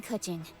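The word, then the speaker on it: Keqing: Just call me Kuching. Kaching. I have been pronouncing it wrong all this time, and I'm proud of that.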